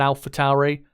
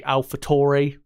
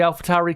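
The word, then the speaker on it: AlphaTauri: lot cooler sounding than Alpha Towery a lot of people as well pronounce it wrong and say alphatori which uh you know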